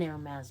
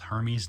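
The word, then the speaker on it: Hermès: it but I am I bought an airma bag so it's not pronounced Hermes the elf no it's not bet you can't guess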